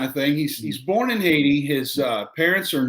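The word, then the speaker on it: Haïti: at uh born in haiti correct uh i iet is how you pronounce that uh with a french accent oh yeah uh john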